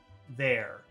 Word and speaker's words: there: And in some types of English in the UK or maybe in Australia, they don't pronounce the R at the end of a word.